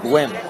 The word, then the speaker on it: Nguyen: Jordan Nguyen with his third foul. I believe now I hear it's pronounced Gwyn.